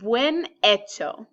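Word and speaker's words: bien hecho: here the title is when Itoh which means well done so we don't pronounce this H ever so when H o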